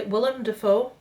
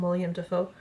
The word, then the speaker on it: Willem Dafoe: a movie with willa i pronounced it correctly willem dafoe yes i'm one of those people that calls him william defoe um and he's a